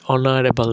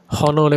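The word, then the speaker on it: honorable: Hour মানে হচ্ছে কোনটা অনারেবল মানে হচ্ছে একজন সম্মানীয়। এখানে কিন্তু আমরা হনলে বলি না। যেহেতু এখানে এইচ এর উচ্চারণটা আমরা প্রতিবারই করতেছি না। না করে পরের ও থেকে উচ্চারণ হচ্ছে।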